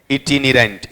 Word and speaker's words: itinerant: इटिनिरेंट। Spelling बोलो क्या है?